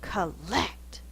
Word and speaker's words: collect: we fuss it our dog name collect we go collect lots of force on the second syllable the first syllable is unstressed it typically changes to thewwa the next word is